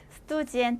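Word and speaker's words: студент: 에떠이 사람은요 스뚜오 자 대예 나왔죠 전에 했던 그지의 표현에서 스트 아니고 스트 지엔트 해 줘야 되죠 에스데우스지엔 스튜지엔 하면 학생이란 뜻이죠 영어의 스튜던트예요.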